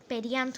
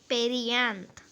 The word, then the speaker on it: perianth: नहीं कर सकते, तब वो क्या होता है, पेरियांथ हो जाता है। क्या, पेरियांथ, ठीक है। पेरियांथ ज़्यादा स्पेलिंग भी लिख दिया है, पेरियांथ, PERIANTH, ठीक है।